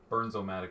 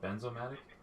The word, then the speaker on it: Bernzomatic: We still get emails, people pronounce it wrong. Weird. That's very strange. So to you, it's always been BERNZOMATIC, but for some reason, stupid people call it BENZOMATIC?